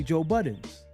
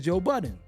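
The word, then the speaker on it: Joe Budden: People will naturally say Joe Buttons, but his name is Joe Buddton.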